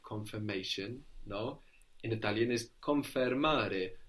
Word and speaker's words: confermare: In Italian is confermare. Now this is spelled with an I in Confermare. English, confirm. But in Italian it becomes an E, which consequently makes it sound more like the English, no? Confermare.